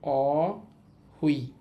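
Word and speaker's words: 어휘: শব্দটার উচ্চারণ হবে অ হুই। অহুই অহুই মানে হচ্ছে শব্দ ভান্ডার বা শব্দকোষ।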